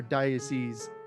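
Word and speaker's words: dais: filled with balconies booths daces and or diocese is the correct correct pronunciation of that and other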